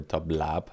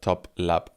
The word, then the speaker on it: TOPLAP: follow them at top it's t o p l a p not not B because I was looking for top lab as a lab Lab and it's a laptop it's laptop with the syllables uh exactly laptop not lab as a la laborator uh so top labore